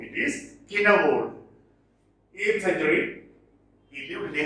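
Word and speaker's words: Cynewulf: It is not pronounced as Sinewold, it is Kinnawold.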